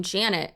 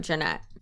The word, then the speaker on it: Jeanette: videos Jesse and Lily mocked attorney Brun by mispronouncing her name Janet instead of Janette which is also not